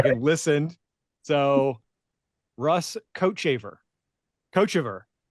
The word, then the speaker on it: Kochevar: I wrote coat, COAT, and then Chaver, but I didn't put like a long A Yeah, gotcha. thing over it. So I messed it up. Rugs. Yeah. Rugs Kochever.